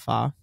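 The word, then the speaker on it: pho: it up I love fa fa see yeah I mean I say faux but I guess it's fa it's fa yeah but it's spelled fo I also love a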